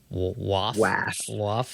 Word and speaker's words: WAWF: The first is the Wide Area Workflow, WAWF, which is pronounced WAF.